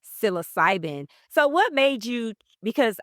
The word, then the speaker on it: psilocybin: And so, your specialty is, how do you pronounce it? Psilocybin. Psilocybin.